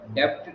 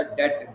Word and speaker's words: debt: अब गवर्नमेंट ने कुछ इकोनॉमिक पॉलिसी बनाई कि जो पब्लिक सेक्टर डेट, DEBT लिखा है, डेप्ट नहीं होता, डेट, डी साइलेंट होता है, डेट।